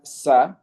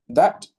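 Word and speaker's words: ث: okay, the Indian subcontinent, a lot of people have learnt these letters as the tha will be read as sa, but that's incorrect because that's the letter sin.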